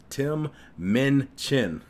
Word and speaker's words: Tim Minchin: I feel like I'd be pronouncing it wrong sometime. It's Tim Minchin. Tim Minchin.